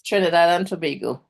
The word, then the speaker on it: Trinidad and Tobago: and I always mispronounce it. There's Trinidad and Tobago, is that correct? Yes. Trinidad and Tobago.